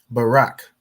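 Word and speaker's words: ברק: The Ba is pronounced individually. The Ra and the Ka join to make Rak. So when you join letters, for example, with this Ra and Ka, the A drops off on the second letter.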